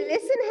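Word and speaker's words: listen: जैसे कि लिसन है तो टी जो है, टी का साउंड हमें नहीं मिलता है, तो टी को अंडरलाइन करना है क्योंकि ये साइलेंट रहता है।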